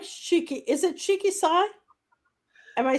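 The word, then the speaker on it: Shiki-Sai: Is it Shiki Sai?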